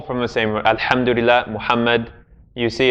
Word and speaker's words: Muhammad: Muhammad. Same, his name. If we're going to say his name properly, peace and prayers be upon him, then his name has a ha in it as well.